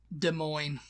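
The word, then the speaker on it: Des Moines: there goes M Indianapolis um next is Iowa De Moine yes this is one of my mom's little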